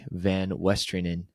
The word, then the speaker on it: VanWestrienen: Today we have my good friend Isaac Van Westerin. Did I pronounce that right, Isaac?